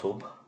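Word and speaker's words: صبح: The word sabah here is pronounced subh when it is not used in the phrase sabah al khair. So subh means the morning.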